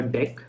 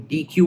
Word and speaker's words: deque: इसको double ended क्यू को हम लोग डेक कहते हैं, कई लोग डी क्यू बोलने लगते हैं। डी क्यू की स्पेलिंग बिल्कुल अलग अलग होती है, इट्स अ डेक, ठीक है।